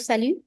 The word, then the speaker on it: salut: So the T at the end of salut is silent. We do not pronounce it.